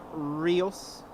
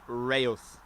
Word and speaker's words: Reus: We have Ryanair.exe from Rees, I don't know. Anyway, Copenhagen, Berlin, Southampton, Stansted, 319 Lufty from Munich, tap dance on the pillars, yeah? Still a tailwind. Hopefully they don't change runways. pronounce it Reus.